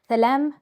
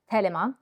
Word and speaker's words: Thelema: So today we are going to talk about from Thelem to Thelema. That would be the correct Greek pronunciation, but I will use the anglicized Thelema because I know that that's what people are most familiar with.